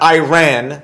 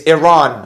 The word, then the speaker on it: Iran: It's not Iran. They didn't run. It's Iran. I have to say it properly.